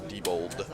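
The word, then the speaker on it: Diebold: has been a blast been a pleasure yeah Debold spelled like d i e b o l d AB d pronounced Debold um but yeah it was fun hanging out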